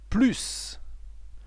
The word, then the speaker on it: plus: As you can see here, the pronunciation is plus because it's following by a word.